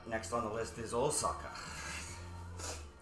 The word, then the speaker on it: Osaka: on the list is Osaka you say like Osaka not Osaka all suck how are